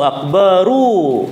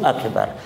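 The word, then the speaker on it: أكبر: Maka bacanya itu harus Allahu Akbaru, Allahu Akbar. Roknya yang akbaru itu dibaca akbaru. Salah kalau baca Allahu Akbar, Allahu Akbar. Salah. Allahu Akbar, Allahu Akbar. Harusnya Allahu Akbaru, Allahu Akbaru.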